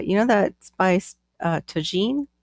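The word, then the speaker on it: Tajín: know that spice uh toen I think is how you say it it's got like a little Citrus with spice to it yeah Tajin or t tajun it looks like tahen okay thank you you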